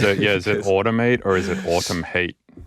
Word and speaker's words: Automhate: In my head it's automate which is like kind of sounds like ultimate sometimes people are like oh yeah ultimate. Yeah I know you. I'm like no I'm not al I'm not ultimate. Don't know what ultimate is.